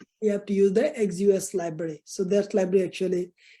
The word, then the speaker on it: Axios: So for the Node.js that you call the backend API, you have to use the Axios library.